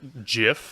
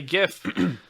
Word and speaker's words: GIF: their life you douche unless they pronounce it jiff okay no no you it's graphic i'm not getting into that argument okay fair enough but i say gif and that is all